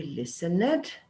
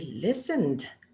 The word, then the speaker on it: listened: danced they watched we listen it and the teacher goes no we don't pronounce the e over there we say she played I danced they watched we listened my brain is getting